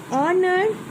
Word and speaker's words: honor: Honor, H.